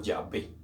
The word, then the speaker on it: Yahvé: Entonces queda Yahweh o Yahvé, como nosotros lo llamamos.